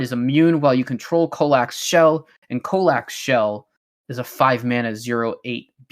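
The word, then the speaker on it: Colaque: It's got a Q and it's got a UE at the end, which confused me. It's Kolak, 7 mana, 6/5.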